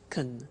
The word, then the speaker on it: can: can speak Spanish now notice the pronunciation of can becomes can she can she can speak Spanish he can play tennis we can speak German all right so can becomes K when we speak now the negative form